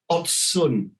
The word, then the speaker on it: Ocun: the the company name it's odd sun so it might be